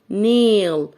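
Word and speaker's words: nail: نيل نيل هنا عندي لما يكون عندي تو فاولز يعني حرفين متحركين بنطق الحرف الاولاني وبسيب الحرف في التاني يبقى انا هنطق الاي وهسيب الاي يبقى هقول نيل نيل هنطق الايه نيل بعد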